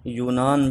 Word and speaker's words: یونان: میں تھا، جسے آج یونان بھی کہا جاتا ہے، لیکن یہ یونان بن یافس بن نوح علیہ السلام کی جانب منسوب ہے، اس لیے اس کا تلفظ یونانیہ یا کے فتحہ کے ساتھ ہے۔ تو جب اسلام پھیلنا